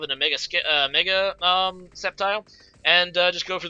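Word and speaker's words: Sceptile: he goes in a skepti um or septile not skepti it's proun septile the sea is silent as somebody reminded me recently um and I'm was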